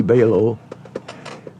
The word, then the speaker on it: Belau: My name's Belau. Belau rhymes with halo, and I'm a retired U.S.